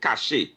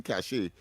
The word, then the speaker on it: cache: This one is pronounced cash.